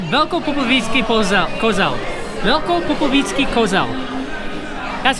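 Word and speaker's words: Velkopopovický Kozel: Velko Popovický Kozel.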